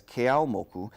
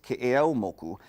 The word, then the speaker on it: Keʻeaumoku: Commonly mispronounced as Keʻeaumoku, this busy street goes from a residential area